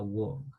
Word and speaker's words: walk: En la palabra caminar no pronunciamos la L, simplemente walk. ¿Ok?